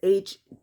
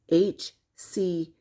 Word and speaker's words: HCG: And then you have HCG. I don't know if she's dyslexic. She always says HGC. It's HCG.